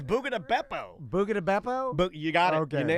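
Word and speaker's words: Buca di Beppo: So you just told me that Buca de Beppo is closing down. I'm glad you say it right, because I think most people that I know call it Buga de Peppo.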